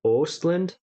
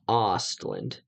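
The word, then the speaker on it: Östlund: but i'm pretty sure in swedish an o with an umlaut makes the long o sound like ostlund and ogren um they're all pronouncing it ostland like more of an ah sound i haven't heard it pronounced like that before muslim definitely has higher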